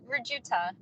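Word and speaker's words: Rujuta: Rahuta, is that how you pronounce that? R-U-J-U-T-A? Yeah, Rajuta.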